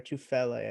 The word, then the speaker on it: Tufele: Tufele, I'm pretty sure is how it's pronounced Yep.